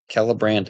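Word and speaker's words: Celebrant: nimel by the way C and Elvis is pronounced K like that kellbran and nimel until you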